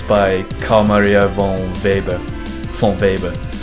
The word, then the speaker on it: von Weber: carl maria von baber von weber that's how you pronounce it in german i think right germans criticize me